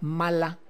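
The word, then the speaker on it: malla: Le llamaban el may se pronuncia mala y se escribe maya con doble l.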